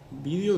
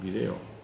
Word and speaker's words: vídeo: Entonces yo le dije, vídeo dicen en España, y nosotros decimos video. Vídeo es influencia del inglés y video es influencia del francés.